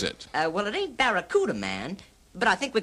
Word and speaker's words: Barracuda: fast moving Plymouth Fastback the Plymouth bakara hey man the name of the Plymouth Fastback is the Barracuda I know I can't